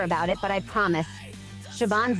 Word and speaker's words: Siobhan: Looks like a subhan pronounced.